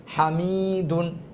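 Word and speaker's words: حَمِيدٌ: হা জবর হা, মিম ইয়াজের মি, হামি, হা জবর হা, হরকতের উচ্চারণ তাড়াতাড়ি, মিম ইয়াজের মি, মাদের হরফ একা ইফটান, দাল দুই পেশ দুন, তানবিন, এটাও তাড়াতাড়ি, হামিদুন, কি হবে? হামিদুন।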